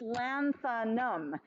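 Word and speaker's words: lanthanum: and pronounce it and it's literally just three syllables so go with the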